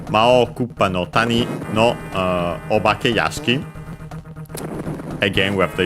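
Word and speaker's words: お化け: With this honorific prefix, so the accent changes, it becomes, it's on the obake, low, high, low.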